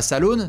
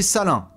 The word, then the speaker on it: Salaun: salin hein bien évidemment S a l a u n c'est pas Salone c'est salin hein normalement là-dessus il doit